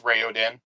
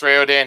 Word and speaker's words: Raoden: chapter one chapter one starts we meet Prince rayen I pronounced it correctly Prince rayan he's the yeah pretty much the heir to